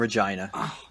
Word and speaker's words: Regina: Okay, he played with the Regina Pats before he was drafted. It's pronounced Regina, and I'm not even kidding. Regina I'm Pats. not even kidding. It's Regina. You pat the vagina. Like vagina.